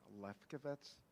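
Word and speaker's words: Lafkovitz: microphone right there and if I pronounce anybody's name wrong I'm truly sorry my name is my name better is lefkovitz l-a-f-k-o-v-i-t-z and um yeah you're going to have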